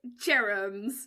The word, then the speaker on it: Jerams: Let's pronounce your name correctly. Maybe you should say it first, your last name. I'm Jerams.